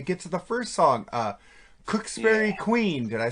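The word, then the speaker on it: Cooksferry Queen: And we get to the first song, Cooksbury Queen. Did I say it right? Yep. Cooksbury Queen.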